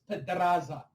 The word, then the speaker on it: Pedraza: It's pedraza. The fucking I know vodka's that. kicking in on Lee. Oh, dude, I'm not gone yet. I'll be gone shortly. He said, roll your R like licking pussy.